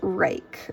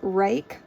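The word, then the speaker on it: Ruike: I believe this is pronounced rake. R-U-I-K-E. I believe that's how I've heard it pronounced.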